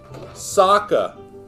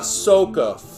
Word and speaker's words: Sokka: my baseball shirt sokka not soca you